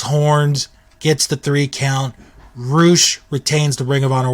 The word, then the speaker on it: Rush: roou and it's spelled like rush but it's pronounced roou go watch him he is an amazing talent